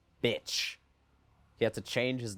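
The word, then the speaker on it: Bich: His name in French is pronounced bitch.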